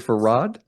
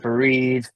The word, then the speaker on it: Faried: Farad, did I say it right? Fareed.